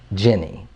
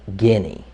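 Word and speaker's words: Ginny: It's spelled G-I-N-N-Y. Jenny. When you look at it, it looks like Guinea.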